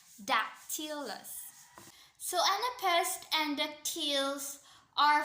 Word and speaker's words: dactylus: So the Latin word of dactyl is dactylus, which itself has stress pattern of dactyl, dactylus, dactylus.